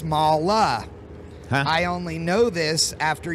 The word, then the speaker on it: MAHLE: the international arm AKA Molly aftermarket that would be incorrect it is mala aftermarket it is the same spelling but it is pronounced differently in America versus in Germany which is their home